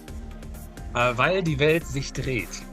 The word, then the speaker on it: Weil die Welt sich dreht: So it's weil die Welt sich dreht. That's what he would say.